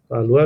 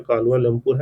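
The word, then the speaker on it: Kuala Lumpur: कलुआ कालवा लोमपुर है। हसी अहमद कलवा नहीं है। यहां पे कालवा लोमपुर है। इसको प्रोनाउंस कर लीजिएगा।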